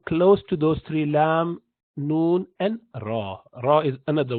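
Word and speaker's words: ن: illa Allah and then the same tip of the tongue would touch the top and he pronounced the letter noon and an hard palate again and and noon has half of its sounds coming house of sound coming from the nostril so and you continue to move it so the nasal passage would continue to be part of this pronunciation so and you do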